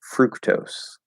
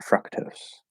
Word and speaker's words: fructose: have no idea it's it's because i always thought of it as like fruit right fruit is an ooh you wouldn't say fruit i'm gonna eat a fruit no fruit contains fructose not fructose but whatever it's just